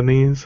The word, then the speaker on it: NES: SNES or Ness ones it's it's pronounced the sneeze sneeze in the knees okay um but I